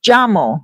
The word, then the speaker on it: Jamo: And it's pronounced jamo, like ja, like j a h like jaw, you know, like god ja jamo.